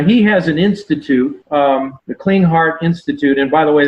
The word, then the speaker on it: Klinghardt: Now, he has an institute, the Clean Heart Institute, and by the way, that's spelled a little differently than what it sounds. It's KLINGHARDT.